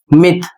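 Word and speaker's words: myth: अगला शब्द है एम वाई टी एच मिथ।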